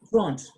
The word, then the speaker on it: trente: Not Trent, not Trente, it is Trente.